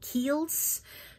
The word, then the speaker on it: Kiehl's: Kiehl's.